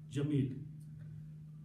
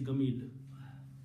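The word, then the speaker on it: جميل: Yeah, they will, for example, in the Quran there is the word Jamil. So when they are reading the ayat of the Quran, they will pronounce Jamil. When they are outside the Quran, in a minute later, they are doing an explanation, they will say he's Gamil.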